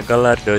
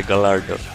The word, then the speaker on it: Gallardo: Oh, the pronunciation is Gallardo, yeah, but I always say Gallardo, because I'm not Spanish.